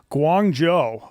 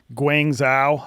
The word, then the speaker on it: Guangzhou: So that like they were a dime a dozen, but uh yeah, I spent my first year in Guangjo. A lot of people think it's pronounced Guang Xo.